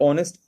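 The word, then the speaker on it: honest: से हो रहे हैं, बट एच इज not pronounce, लेकिन एच को प्रोनाउंस यहाँ नहीं किया जा रहा है, एच वहां पर साइलेंट है।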